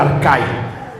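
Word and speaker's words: ἀρχαί: viene en esta traducción dice arche es la palabra que se pronuncia arcai está hablando del primer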